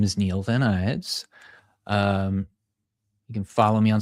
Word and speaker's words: Vanides: I thought it was Vanides because it looks Spanish, but it's Vanides. So thank you for clarifying that. No worries. It's Greek, so there's a lot of different ways it can be pronounced.